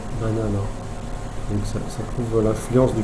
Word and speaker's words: banana: Donc là, ça se prononce banana.